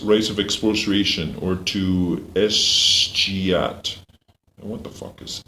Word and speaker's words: escheat: That's maybe where some of our parks come from the escheat. And what is the word escheat? It's let me hear. It's from the word cheat. Escheat. It's from the modern one cheat.